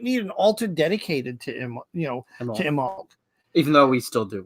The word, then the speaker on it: Imbolc: So Imbolc, aka Candlemass, aka Brigantia, aka Imbolc. That's how this is the pronunciation they have here.